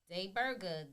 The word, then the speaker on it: Dai Burger: Day Burger, D-A-I Day Burger, Burger. spelled like a regular burger.